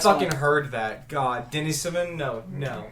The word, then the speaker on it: Denisovan: Denisovans actually pronounced Denisovan, too. We got I hit onto you this in on the the Oh, I last fucking one. heard that. God, Denisovan?